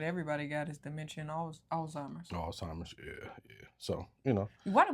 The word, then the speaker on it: Alzheimer's: Old-timers. Old-timers. I think it's pronounced Alzheimer's, though.